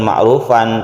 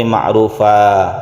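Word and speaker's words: مَعْرُوفًا: sudah diganti menjadi Medco Oleh karena itu bacanya bukan makhluk fun tapi makruva dikurangi a&w diganti dengan mata atau panjangnya satu Alif apabila kita meneruskan tidak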